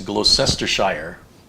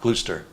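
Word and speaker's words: Gloucester: joins us from see now that looks like it's a glossestershire but how much you want to bet it's pronounced like gluester ah probably i don't know glooster sure like wish this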